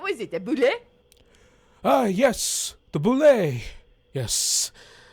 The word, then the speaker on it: bulette: in there what was it uh yes the boulay yes it's pronounced by the way everyone else says at